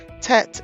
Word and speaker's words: Tet: Tet is the 10th letter. It is pronounced as T, as in tea.